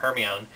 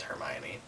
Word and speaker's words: Hermione: discussing it and I said something about herion and she was like um you mean hermion and I was like no it's so Heron and she was like it's hermion I was like that doesn't even make sense it has to be Heron and then she was like whatever and I was like we'll just wait until the movies come out and then the movies came out and it turns out it is Hermione whatever um so I